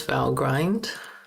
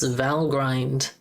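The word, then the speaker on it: Valgrind: How do you pronounce vow grind? The the vow as in the word value and grind is pronounced with a short I dash dash i e.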